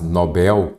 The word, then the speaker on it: Nobel: Nobel H nada disso Nobel aqui é sem acento ela é oxítona sim mas eu não acentuo as oxítonas terminadas em e l ou em L e grácio grácio fácil aí OK mas Nobel sem acent então recém